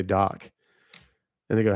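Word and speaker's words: PhDoc: And I'd say p h d o c, but the p h is silent. And people would every time they would go, f doc?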